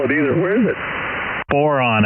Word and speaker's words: Boron: Boron, I believe. Sorry, I said it wrong.